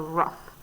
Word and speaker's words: rough: sound like it looks so rough so the gh here make the f sound weight a so actually